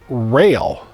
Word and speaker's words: Roehl: to her and um it's not culver road it's rail is how it's pronounced but the name was